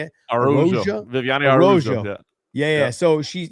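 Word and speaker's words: Araújo: Araujo.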